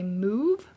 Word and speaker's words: mauve: I think that other countries, perhaps Canada or the UK, say move.